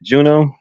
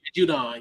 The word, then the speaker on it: Judon: Was it Matt Juno? Did I say his name right? Judon. Yeah, Matthew Judon. Judon.